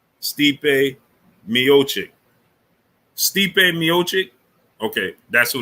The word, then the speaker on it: Stipe Miocic: True 319 said you were saying his name wrong. His name is Stipe? Stipe Miocic.